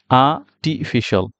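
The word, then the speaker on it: artificial: তাহলে কারেক্ট প্রোনাউন্সিয়েশনটা কি কারেক্ট প্রোনাউন্সিয়েশনটা হচ্ছে আর্টিফিশিয়াল আ টিফিশিয়াল দেখেন এখানে আ টি ফিশয়াল এখানে কিন্তু কোথাও আর নেই বাট আমরা কিন্তু এখানে যখন আগে আমরা প্রোনাউন্স করছি তখন কিন্তু এখানে আর টাকে খুব বড় করে প্রোনাউন্স করার চেষ্টা করেছিলাম যেটা এখানে বাদ চলে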